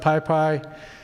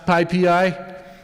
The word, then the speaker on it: PyPI: Can you trust PyPy? Can you, what's that? Yeah, can you pronounce PyPI? Like Magnum PI, but with code.